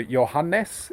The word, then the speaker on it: Johannes: His mother is Estonian, my wife Marianne. So Johannes is how you would pronounce it.